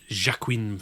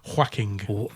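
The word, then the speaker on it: Joaquin: And Jacquin Phoenix. Is that how you pronounce it? No, definitely not. Just being an absolute dick. It's pronounced whacking whack whacking.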